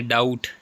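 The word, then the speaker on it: doubt: है P silent है इसके बाद है डाउट बी साइलेंट है नॉम नॉम इसमें जी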